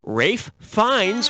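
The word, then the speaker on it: Ralph Fiennes: what it is a complete and utter failure Rafe finds rhymes with safe Pines yeah he was great in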